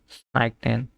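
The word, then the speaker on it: zeichnen: সাইক নেন সাই সাইক নেন, ঠিক আছে। স জেড কে উচ্চারণ করবো স এর মতো।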